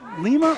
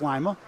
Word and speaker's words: Lima: to being hello Mason is that pronounced Lima or Lia lima beans like lima Lia Ohio Lima Ohio I think it's Lia you think if I'd